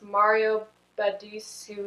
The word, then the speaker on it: Mario Badescu: How do you pronounce Mario Badescu skincare?